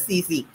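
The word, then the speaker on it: tsetse: the spelling is tac tac okay but the pronunciation is cc so the cz flight carries the is the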